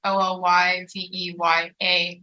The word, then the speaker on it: Olyveya: So I'm everywhere at Carnivore Ballerina, except for Twitter, which is just at Olyveya with an extra A, and that's spelled Olyveyaa. So that's how my name is spelled, but it's just Olyveya.